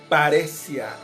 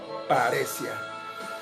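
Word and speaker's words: παρρησία: habla de este término que en griego se pronuncia paresia, con H intercalada, paresia.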